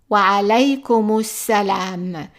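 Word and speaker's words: وعليكم السلام: Notice that we are not pronouncing the alif and we are not pronouncing the lam, and that's because this is son article. But we are doubling the first letter here.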